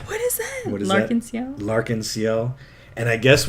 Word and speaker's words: L'Arc-en-Ciel: And do you know how to pronounce that? L'Arc-en-Ciel!